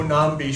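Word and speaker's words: Nnamdi: the Cojo nambi show which is spelled NN a MBI I say that because that's the first word with a silent n in it that I knew that the N was at the beginning so it's like the ninja and and so anyway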